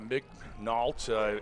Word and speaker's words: Mignault: You pronounce the L. Mignault, M-I-G-N-A-U-L-T, Joel Mignault.